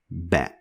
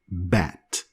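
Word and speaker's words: باء: Ba is pronounced like the B sound in English, like when you use it in the word bat.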